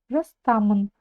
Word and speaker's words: жастан: дальше Жан Жас жаста жастан буква как будто нет И за счёт того что её как будто нет ударение ставится на слог та жастан жастан идём дальше ал сеен нище